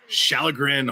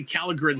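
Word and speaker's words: Källgren: Shallegren holds it down. Every time I see Shallegren, I want to say Callagren so badly, but I know the K is pronounced SH, and it drives me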